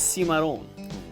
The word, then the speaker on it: Cimarron: a historic lantern light tour with Jared Chatterley Cimarron is Spanish in origin is actually pronounced see my own it means wild untamed unruly from the business